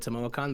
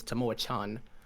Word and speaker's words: Tamoachan: of tomorrow tomorrow chan i mispronounced it last time and i called it tamo khan but i believe the the correct one is tamo chan the hidden shrine of